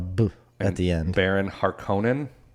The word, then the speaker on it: Harkonnen: at the end Baron Harkonnen I don't know harkonnen Harkonnen it's harkening yes I remember that I'd